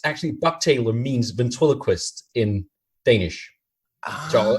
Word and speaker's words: bugtaler: It's actually Bugtaler means ventriloquist in Danish. So I'll just say it's to pronounce it in the right language, it's Bugtaler. So it means actually a boo means your stomach, and tailor means speaker.